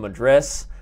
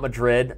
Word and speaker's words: Madras: was when the Tiger from Madras, not Madrid, I will say it correctly this time, Madras, Vishy showed that he still has fangs and they are sharp.